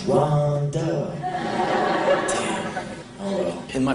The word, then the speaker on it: Rhonda: It's not Rhonda, it's Rhonda.